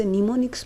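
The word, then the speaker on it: mnemonics: क्या पढ़ते हैं निमोनिक्स निमोनिक्स में यह जो एम है यह हमारे पास साइलेंट है यह वन स्टेप हायर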